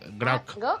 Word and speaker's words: groc: Groc. ¿Cómo? Groc.